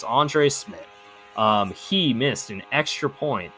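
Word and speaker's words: Andre Szmyt: kicker, Andre Smith, who, if you look at his name, you would not guess it's pronounced that way, but it's Andre Smith.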